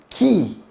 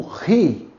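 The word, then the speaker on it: χ: Aqui nós temos o Ki.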